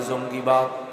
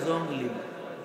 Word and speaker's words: জঙ্গি: এই জঙ্গি সেটা উচ্চারণ শুদ্ধ করতে হয় না, কয় জঙ্গলি। কি কয়? কয় জঙ্গলি।